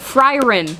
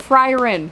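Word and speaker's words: Frieren: to check upstairs I had to I got frin It's pronounced frin apparently it's German thank you to those of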